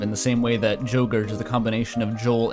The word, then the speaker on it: Jogurt: Oh, but if you pronounce this in a Swedish way, it is still yogurt. Because the J is just a Y sound, so, I think this works on multiple levels here.